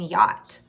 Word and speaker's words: yacht: Sometimes the CH is silent, like in yacht.